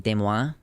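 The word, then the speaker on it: Des Moines: is my question um like de Mo De Moine Iowa if you were to pronounce it in actual French you would be like deoa but of course everything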